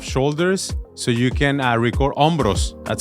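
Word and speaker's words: hombros: suggestion I love shoulders so you can record ombros that's how you say it in Spanish rosos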